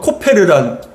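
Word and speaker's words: כֹּפֶר: 역청을 그 안팎에라는 것, 이 역청이라는 것은 히브리어로 코페르라는 단어예요. 근데 칠하라 했을 때 칠하라는 건 히브리어로 카파르예요. 그러니까 여러분 이 히브리어대로 발음대로 표현을 한다면 14절이 고페르 나무로 방주를 만들고 코페르로 안팎을 카파르하라라고 얘기합니다.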